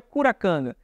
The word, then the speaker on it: Curacanga: conhecido como kum kanga entendemos que kum kanga é a pronúncia dessa criatura no Pará enquanto no Maranhão se pronuncia curacanga mas todos esses nomes especialistas além do próprio Câmara Cascudo chegam à conclusão de que se trata da mesma criatura apenas com a pronúncia diferente nos dois estados mas nos games ou